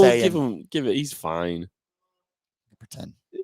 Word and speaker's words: Saiyan: What does the next Scion evolution of Mahomes look like? Did I say it right? Of Mahomes look now. Tucker, how do you say it? Oh, Saiyan.